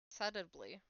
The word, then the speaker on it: subtly: There's a silent B. Huh? So it's subtly suddly.